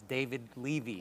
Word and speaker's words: David Levy: Ramsey ah I believe the name of my partner here was mispronounced it's David Levy that's okay the president